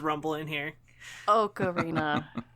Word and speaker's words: ocarina: Ocarina. Oak, like a tree.